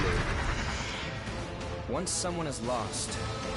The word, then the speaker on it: Louis: Technically, his name is spelled Lewis, but it's Louis.